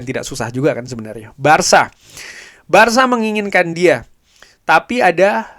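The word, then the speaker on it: Barça: Barka ada ternyata ada orang dari Katalunya gua ditegur bukan Barca.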